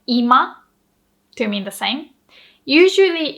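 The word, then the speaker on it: 今: say now in japanese we say ima hello ima if you say ima lo hai ima that means the same as living room so living room we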